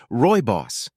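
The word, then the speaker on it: rooibos: begins making the first batches of sponsor one ruy boss te row uh ruos R how do I pronounce that spiff quickly searches and finds the proper pronun iation oh okay Roy boss that's how you say it okay odd right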